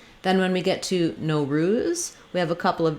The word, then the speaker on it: Nowruz: to practice this one, you might want to start with saying ruse, Nowruz, so that you have that syllable stress correct. We don't need an American O here. It doesn't need to be a long O ruse, Nowruz, but most Americans will still, any O they'll say with a diphthong O.